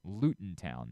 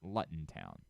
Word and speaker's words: Luton Town: is very angry with me it is apparently pronounced luten Town not Luton Town thanks a lot for letting me get that